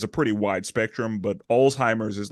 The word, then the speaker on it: Alzheimer's: it's like a it's a German word it's Alzheimer's like I know I'm trying that's what I'm